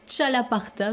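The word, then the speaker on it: txalaparta: Il s'appelle le chalaparta, je crois que je prononce bien. Vous parlez basque, Ouais, tout à c'est fait. Donc c'est le X, c'est ch.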